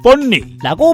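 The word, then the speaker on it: 分梨: 그리고 배를 나눠 먹는다는 말은 뻔리라고 발음하는데 역시 같은 발음에 다른 뜻으로 뻔리라고 하면 이별한다는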